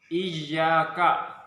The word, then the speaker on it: iyyaka: Iyyaka, ya, harus tasdid. Iyyaka, ditekan membacanya.